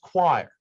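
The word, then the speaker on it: coir: right and it is it is pronounced choir all right and i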